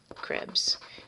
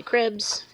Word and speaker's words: Krebs: So this is the citric acid cycle, also known as Krebs. I tend to say cribs because it's fewer syllables and easier to say.